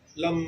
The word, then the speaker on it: लं: इसको ऐसे उच्चारण करते हैं। सांस लेंगे लम लम ये लम जो है ये मूल मूलाधार के लिए जाना जाता है।